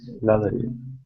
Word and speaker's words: lottery: don't know how pronounce Lottery uh um Lottery usually a lot of times when you have two T's right here it comes out like a d so this is kind